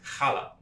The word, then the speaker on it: challah: I get to correct your pronunciation. Oh, perfect! It's challah. Challah. You need that guttural Right.